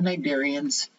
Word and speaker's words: cnidaria: Then we're going to move on to the cnidarians.